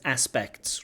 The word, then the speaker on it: aspects: This word aspects is aspects, right? It has a k, a t, and a s. Sometimes in our connected speech, we drop this T through a process called elision, and it can become aspects. If you're speaking really quickly, you say there's a lot of aspects to something.